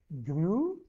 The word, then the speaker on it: Grüße: One more thing, for the pronunciation of this Grüße, what we can do, we can pronounce it like this. Grüße.